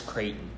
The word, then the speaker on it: Creyghton: one ace of and then my last names Creighton Creighton but then